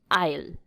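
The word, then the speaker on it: aisle: होती है उससे कहेंगे ऑयल ऑयल ऐसे साइलेंट सा ऑयल ओके आई लव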